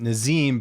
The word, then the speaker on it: Nazim: Now, at the top of this interview, I was asking you how to pronounce your first name, and you pronounce it Nazim.